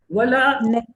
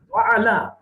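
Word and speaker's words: وعلى: جبکہ اس کا صحیح تلفظ کیا ہے؟ وعلا. اور اگر آپ صرف ولا کی آواز نکال جاتے ہیں تو سمجھیں آپ خود کہتے ہیں اللہ تعالیٰ ہمیں نہیں چاہیے, ہمیں کام پہ نہ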